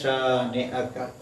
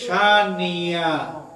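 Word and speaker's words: شانئك: তো অনেকেই ভুল করে তেলাওয়াত করেন শানিআকা, অর্থাৎ হামজার মতো উচ্চারণ না করে এমন ভাবে উচ্চারণ করেন যে আওয়াজ শুনলে এখানে তিনি ইয়া বানিয়ে ফেলেছেন, খুব সহজেই বোঝা যায়। এভাবেই তিলাওয়াত করা উচিত, শানি আ। আর যারা ভুল করেন এরা কিন্তু শানিয়া, যখন হামজা আর হামজা থাকে না, এটা ইয়া হয়ে যায়।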